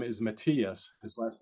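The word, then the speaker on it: Matías: It's Subriel Matias or Matias.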